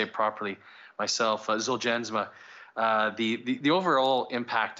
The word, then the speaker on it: Zolgensma: the manufacturer that uh novartis said the the g's g is pronounced as a j but i i have to say it took me a long time to to say it properly myself zuljansma uh the the overall